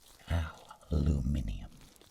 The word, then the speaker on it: aluminium: called thai stylium plastilium oh i'm sorry my british counterparts aluminium so i know you